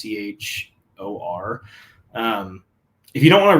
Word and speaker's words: Achor: It's called The Happiness Advantage by Sean Achor, I think is how you pronounce it. It's Achor.